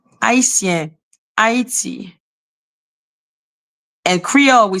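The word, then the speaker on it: Haïtien: Haitien. That is how we say Haitian, or whatever the fuck how you say it in English. In French, you say Haitien. We don't have the H sound in French.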